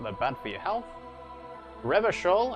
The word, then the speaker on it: Revachol: bad for your health River Shoal is pronounced ravishore aranyi is pronounced aranyu